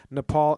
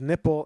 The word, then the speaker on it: Nepal: to see India's neighbours Nepal and Bhutan on a map mispronouncing them as nipple and button it's great that is